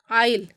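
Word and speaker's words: aisle: जाएगा नेक्स्ट देखिएगा एग्जांपल आइल तो यहां पर भी एस आई और एल के बीच में आया है यहां पर भी जो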